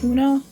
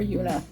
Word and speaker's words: Una: i don't know i've heard it pronounced both ways una or yuna as with most